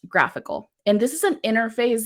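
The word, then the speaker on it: GraphiQL: tool which is called graphical it's not a typo it's graph i ql not graphql and it's pronounced graphical and this is an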